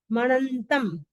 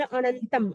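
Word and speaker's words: अणंतं: च वासु पूज्यं च विमल मणंतम कई लोग बोलते विमल अनंतम, अनंतम नहीं विमल, यहाँ तक बोलते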